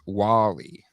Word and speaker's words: WALL-E: How did you pronounce that? Wall-E. It's Wall-E.